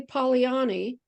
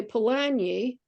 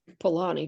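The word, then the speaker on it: Polanyi: a n y i you don't want to say Pani you want to say Pani or there's other ways it gets pronounced pan Pani which I I tend to fall in as Pani just don't put your y up there you know so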